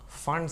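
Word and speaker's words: Pfund: is the is the fund series but it is called p fund p is silent p fund after that it is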